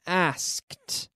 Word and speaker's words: asked: that end in k we have a t sound in the past checked checked the same as asked no extra syllable not asked but asked okay at home repeat